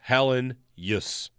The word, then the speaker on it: Helenius: And I'm pretty sure it is Helenus. Helenius. That's it. Three syllables. Helenius. Yeah. Helenius. Yep. We're into that. Not Helenius. Not Helenius. Helen. Helenius.